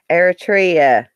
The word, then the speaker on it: Eritrea: Eritrea.